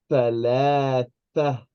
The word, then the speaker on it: ثلاثة: I want you to pronounce this like three.